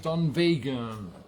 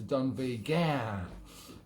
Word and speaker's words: Dunvegan: The Braes of Dunvegan. Yes, I was just up to the Isle of Skye visiting from US of A, and we went to Dunvegan.